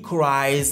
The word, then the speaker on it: cries: He cries like a baby. He cries like a baby. Dans ce cas particulier, la terminaison IES se prononce eyes.